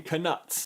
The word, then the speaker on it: Knut: Problem number 1, right out of the gate, they pronounce what is clearly supposed to be a silent K in knuts.